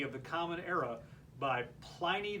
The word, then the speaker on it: Pliny: the Common Era by Pliny the Younger or plenty depending on how you pronounce it about a haunted